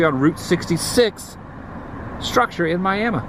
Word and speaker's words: Miami: Pronounced Miami. Took me the hardest. Took me a long time to ever get used to that. How people say Miami. Miami.